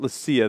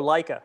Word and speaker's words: Leica: do you say that not lasa that's the cigar let le le how do you say that John uh what what is it it's the cameras Oh Leica Leica I was going to